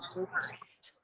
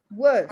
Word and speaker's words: worst: I say worst. Minu says worst. You see, Miss Wissam? Worst. Yeah. Worst. No R sound in British English. The R sound, if it's followed by a consonant, it's not pronounced.